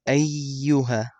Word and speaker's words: أَيُّهَا: And you also have to notice that the ya here has shadda. قُلْ يَا أَيُّهَا. So you pronounce it twice.